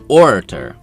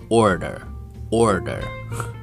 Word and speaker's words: orator: the first word is orator oror orator orator or Americans say oror order it's weird o r a t